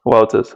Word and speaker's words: Wouters: This is Wouters. Did I say it correctly? Wouters. Wouters.